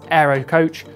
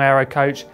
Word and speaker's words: AeroCoach: we receive a press release from Aero specialists Aero coach we had to take a closer look British